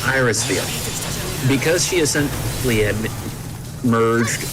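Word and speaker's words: Irisviel: be able to iris is it is it pronounced iris steel yeah thank god yes iris feel because she isn't had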